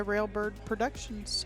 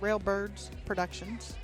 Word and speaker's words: Railbird Productions: I give her a hard time every time she mispronounces our name. Yeah, it's that d that it's like it it's wrong, you know? It it almost like you're doing a double possessive or something.